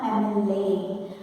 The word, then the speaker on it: MLA: If you look into the word, it has got a consonant here, but while pronouncing it goes with a vowel sound. My friend is an MLA. My friend is an MLA. While pronouncing, it starts with a sound. A-E-I-O-U, a sound, MLA.